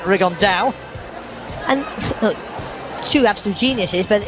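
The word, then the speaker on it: Rigondeaux: T's talked about fighting Rondo or as he's correctly pronounced with the Spanish accent rigonda and two absolute Geniuses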